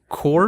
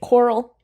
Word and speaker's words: choral: Core music? Choral. Choral. Like choral.